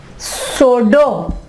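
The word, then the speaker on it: pseudo: P silent की examples हैं सोडो, सोडो, ठीक है।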